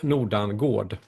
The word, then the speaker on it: Nordangård: Well, if you if you pronounce it in the right way in Swedish, you say Nordangård.